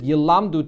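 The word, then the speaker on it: ילמדו: That when that pasuk, when it says Yilmedu, definitely you're going to have to change the pronunciation and read it Yilamdu, teaching.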